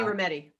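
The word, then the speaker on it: Rometty: itself you you mentioned in the book Jenny ramadi my pronouncing that name correctly the former CEO of IBM Jenny rometti yeah uh quote that growth and comfort never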